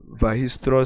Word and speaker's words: Weierstrass: Weierstrass is pronounced Weierstrass. So that's it. But looking at it, it seems it's Weierstrass, but it's pronounced Weierstrass.